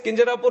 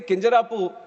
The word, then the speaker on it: Kinjarapu: And my name is Kinjarapu Ram Mohan Naidu. And when some people say Kinjarapu, there might be some problem with them. They can't pronounce it the way I pronounce it.